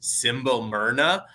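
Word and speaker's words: Simbelmynë: theodan saying this and it's actually pronounced simble Mna but I would never know to say it like that so I always I call it symol mine yeah there's like an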